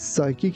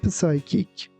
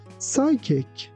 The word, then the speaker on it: psychic: I think my grandmother has psychic abilities because she can predict anything. Here again, be careful that you shouldn't pronounce letter P. For example, we don't say psychic.